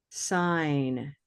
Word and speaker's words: sign: depending on the form, it's got a silent letter in one form and a spoken letter in another form. And I won't make you guess too long. This one right here. Sign. Sign. Sign. Silent G, right?